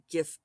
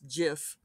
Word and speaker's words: GIF: well, at least it's not an argument like GIF versus JIF, which of course then immediately started the, I cannot believe that there are people out there who want to pronounce it JIF.